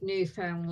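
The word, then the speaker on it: Newfoundland: I also love how people from the UK always pronounce New Foundland properly, Papa, and half of can seem to do it. How could you not get new found land? New found land. Found land. It's land that's new and it's been found.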